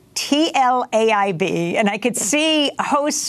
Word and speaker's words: Tlaib: Well, it's actually pronounced as if it was in Hebrew. So when it got translated, it got translated in the Hebrew language instead of Tlaib, which is supposed to be T-A-L-E-E-B, instead of Tlaib.